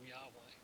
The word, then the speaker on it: Yahweh: Deliverance and blessing come only from Yahweh. There's that pesky spelling again, spelled like our English designate for Jehovah, but the Hebrew says Yahweh.